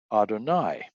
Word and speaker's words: Adonai: And he knew that the name for God in the Old Testament is YHWH, and that when the Jews come to that word, they pronounce that Adonai.